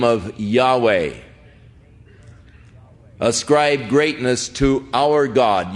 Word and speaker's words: Yahweh: the name of Yahweh now again Yahweh is the name of God as far as we can know pronunciations that is as close as man some say Jehovah but more generally the